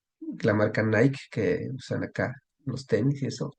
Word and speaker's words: Nike: que esa es la la niqu griega No ni que la marca Nike que usan acá los tenis y eso y